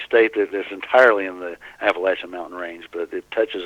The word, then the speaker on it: Appalachia: and we're talking about, I say it wrong, I was always, my whole life I've been saying Appalachian, and it's Appalachia. Is that how you say that? That's how we say it, Appalachia, yeah.